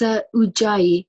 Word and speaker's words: Ujjayi: How are we pronouncing this? It's Ujjayi Yoga, London, and Ujjayi is Sanskrit for victorious.